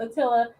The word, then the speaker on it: Attila: His name is pronounced Attila, like Attila the Hun.